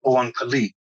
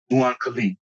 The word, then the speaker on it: Oankali: pronouncing it correctly, the Oankali. It's spelled O-A-N as in Nancy, K-A-L-I, Oankali, or Mhm. Oankali, whichever you pronounce it.